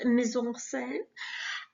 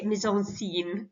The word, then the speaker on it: mise en scène: our paragraph on setting, or as we say in the business, mise en scène. Or I usually say mise en scene because that helps me spell it, but I'm sure it's got a French flourish to it.